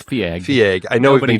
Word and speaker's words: Feig: marketed as from the darker side of Paul Feig. Or Feig, or Feig. I never remember how you say his last name. Feig. It's Feig.